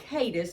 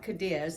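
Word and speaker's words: Cadiz: And that's in a town called Kadis, not Kadis. It it can certainly be mispronounced.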